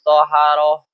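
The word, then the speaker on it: طهارة: Adapun taharah, dengan 'tha' yang diucapkan dengan fatha.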